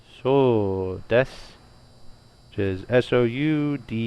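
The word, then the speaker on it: そうです: Now I'm pretty sure you're not really going to be pronouncing that U most of the time, because it's going to slow you down when you're talking. So des.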